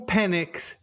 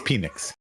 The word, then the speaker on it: Penix: I said to you would you rather Michael Pennock and Spencer Rattler both be penix it's penix penix would you rather penix and and Spencer